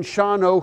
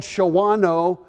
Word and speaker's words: Shawano: we're working in Shawano who I called Shawano until finally somebody said Roger we're gonna hire you anyway even though don't know how to pronounce our name I thought that was so easy Shawano how can you ever get that wrong and then Wassa Wassa